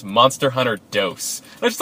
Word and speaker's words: Monster Hunter Dos: Till I found out that Monster Hunter 2 is pronounced Monster Hunter Dos.